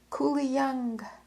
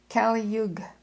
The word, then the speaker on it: Kali Yug: "Kuli Young," cry out old Hindus, with grim despair. Sorry, I mispronounced that. Kali Yug, Kali-YUG, Kali Yug.